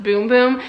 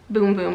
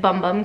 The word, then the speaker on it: Bum Bum: Portuguese there primarily and they say it's pronounced boom boom even though it looks like bum bum cream so I kind of